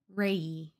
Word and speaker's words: Reay: Knightley by Katherine, I think Reay is how you say her name. Dear Mr. Knightley by Katherine Reay. There's no L, I thought there was an L.